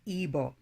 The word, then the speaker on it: Igbo: The three largest and most dominant ethnic groups are Hausa, Yoruba, Igbo, pronounced as Igbo.